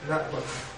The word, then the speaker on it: náhuatl: Aquí lo escriben de esta manera porque esta H representaba un saltillo. Que si lo escribimos fonéticamente, utilizando el saltillo, y con W, perdón. Podemos pronunciar náhuatl.